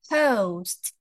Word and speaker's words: host: Ada U-nya, Teman-teman. It's host. Host. Berbeda sama house, beda lagi, ya. Kalau house atau rumah itu pakainya a, Teman-teman. Kalau yang ini o gitu ya. It's host. Ada T sound di belakangnya.